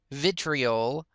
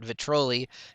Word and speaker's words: vitriol: to get Diamond Vapor oil of vitoli or vitriol is how I should say it I just heard so many people calling it vitoli through witchcraft tutorials that